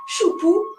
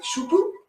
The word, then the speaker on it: Xu Bu: ce qu'on appelle le faux pas choupou ça s'écrit bien sûr Xu Buu bah oui choupou Xu Buu c'est tout à fait logique bon voilà c'est du pinine d'accord mais même principe